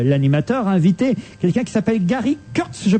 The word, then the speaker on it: Gary Kurtz: euh Laurent Boyer l'animateur invité quelqu'un qui s'appelle Gary Kurtz je prononce bien son nom tout à fait Gary Kurtz qui alors a fait quelques expériences alors vous